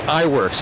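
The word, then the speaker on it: Iwerks: ub ub i've pronounced iworks i-w-e-r-k-s almost like an optometrist right he's one of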